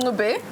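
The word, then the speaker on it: Ncube: Andile Ngube, can you tell I'm enjoying saying this name? I like the fact that you've learned how to say it. I was like Nchube at first. Yeah, it's the progress for me, darling.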